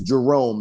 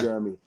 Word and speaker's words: Jerome: Because my first name is Jerome, and people call me Jeremy. I think they think Jeremy is Jerome. I think they think we both have the same names. So they try to sound it out phonetically.